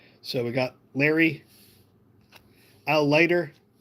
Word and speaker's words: Leiter: So we got Larry, Al Leiter, even though I always said Latier.